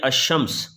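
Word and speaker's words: الشمس: जाए for example ये लाम लगी हुई है लेकिन साइलेंट है हम इसको पढ़ते हैं अश शम्स अर रहमान अब लाम नहीं पढ़ रहे हम इसको अस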